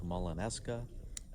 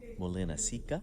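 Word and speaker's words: Molinaseca: of Alta city names we said we were coming to Mawlana s kheh we were politely corrected that it's Molina Sica beautiful little Camino town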